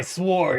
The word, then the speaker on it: sword: Just wait until you hear someone pronounce the word W in sword. It's my sword.